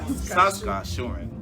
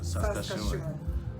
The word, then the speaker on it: Saskatchewan: Okay, somebody has taught me how to pronounce Saskatchewan. Saskatchewan. You'll forget tomorrow. I won't forget tomorrow. Saskatchewan.